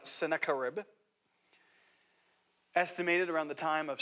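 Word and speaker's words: Sennacherib: And as he's facing down this imminent threat from the nation of Assyria, the king of Assyria, whose name is pronounced something like Sakaribb, estimated around the time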